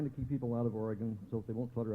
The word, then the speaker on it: Oregon: By the way, that's the way you pronounce it, Oregon. Only foreigners say Oregon, okay? Let's hear it. Oregon.